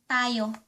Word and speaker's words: tumayo: The proper way to say "Stand up," ---- is putting the infix "um" Tayo. Tayo. You separate letter T from letter A T _ _ ayo and put "um" in between.